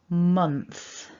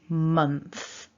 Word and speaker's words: month: nice and loud is month so one syllable month now there's a lot happening given that this is such a small word we've got two nasal sounds we've got them and